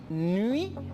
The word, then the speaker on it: nuit: UI se pronuncia, se donne le son I. Par lo tanto, je dis Suisse. Je dis nuit et je dis fuit.